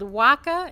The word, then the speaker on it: Waka: This is Johnny LeHane, and he's the founder and co-owner of a distributed company called Waka. Am I pronouncing it right?